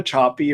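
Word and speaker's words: Sapi: a researcher named Eva choppy her last name is spelled s-a-p-i and about six years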